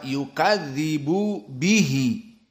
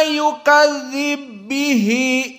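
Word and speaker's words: يُكَذِّبُ بِهِ: Daripada dibaca yukadzibu bihi, maka diidghamkan. Lalu bagaimana membacanya? Wa ma yukadzib bihi illa, seperti itu.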